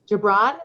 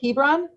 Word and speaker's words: Gibran: that just stepped in gibran is that how you pronounce your name hebron was it hebron he brown yeah so you don't pronounce the g it's like an h correct got it where